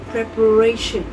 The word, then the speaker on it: preparation: The stress in the nouns usually shifts to the third syllable.